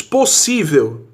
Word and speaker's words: possível: Então a questão diz assim, é correto afirmar que os termos possível e indígena são acentuados porque em ambos a sílaba tônica recai na antepenúltima sílaba. Mentira! Possível, a sílaba tônica é a penúltima.